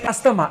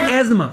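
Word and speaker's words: asthma: COD chronic obstructive pulmonary disease अल्लाह ताला एज अस्तमा इट is pronounce as एजमा समझ आ गई बात इट इज़ एज्मा एस्मा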